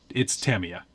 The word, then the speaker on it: Tamiya: but it's Tamiya. Oh, all right. Good to know. We ended up talking to the guys from Tamaya, and they were like, no, it's not how you say it. It's Yeah. Tamiya.